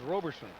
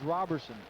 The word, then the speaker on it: Robertson: You don't pronounce the T.